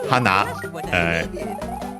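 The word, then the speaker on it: はな: a ton instead and hana could have several meanings but in in that one it's clearly uh the one accented on the last syllable which means flower.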